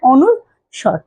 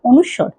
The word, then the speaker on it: অনুস্বর: মানুষের কিন্তু অনেকে কিন্তু কি এই যে এই উচ্চারণটা পারে না, অনুস্বর, ঠিক আছে? তো আমরা আগে বলতাম অনুষ্কার কিন্তু অনুষ্কার না, অনুস্বর, ঠিক আছে?